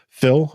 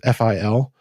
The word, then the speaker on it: Fil: And that's where like a program like his tool, it's a memory profiler called Phil, I think it's pronounced FIL.